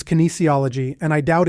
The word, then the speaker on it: kinesiology: K kinology kology kology the correct pronunciation is kinesiology and I doubt it's